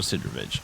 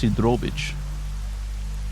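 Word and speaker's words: Sidorovich: daylight to talk to Sidravich. So apparent I think it's supposed to be pronounced Sudrovich. Can any Ukrainian/Russian members of my audience confirm that?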